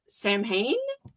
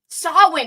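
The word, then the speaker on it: Samhain: Although I can't even say Sam Sam Hayne. Sam, how do you pronounce it?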